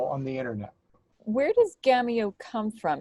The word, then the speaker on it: GAMEO: I pronounce it Gameo, but I know that people who have backgrounds maybe in Spanish or French often say Gameo.